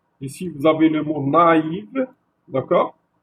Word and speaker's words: naïve: S'il n'y avait pas le tréma sur le et, sur le i, pardon, on aurait lu neve. Donc, si le AI, on va le lire A-E, d'accord? Mais lorsqu'il y a le tréma sur le I, ça va être lu séparément, ça va être na, i, ve. Donc, naïve, d'accord? Donc, se prononce na, i, ve, d'accord?